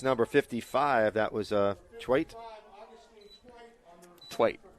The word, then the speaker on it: Twite: Twite is the pronunciation Mr. Halpern has.